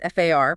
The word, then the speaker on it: FAR: It's the upcoming overhaul of the FAR, that's F-A-R, pronounced FAR.